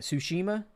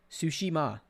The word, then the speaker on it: Tsushima: do i say that tsushima is the t silent sushima sushi ma okay i was putting the emphasis on the wrong spot yeah that game looks